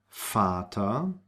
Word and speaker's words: Vater: So the V is pronounced like an F, V, and we have it in the words von, Vater, vier, viel, voll.